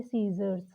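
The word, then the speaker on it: scissors: अगला देखिए सीजर्स, सी साइलेंट है।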